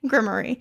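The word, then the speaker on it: Grimmerie: The grim. Grimmery. That's how they say it.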